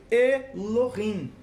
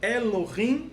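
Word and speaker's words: אֱלֹהִים: essa palavra escrita como elohim qual a diferença uma célula de elorrim para elohim na verdade não tem diferença nenhuma só muda a forma de pronúncia está falando a mesma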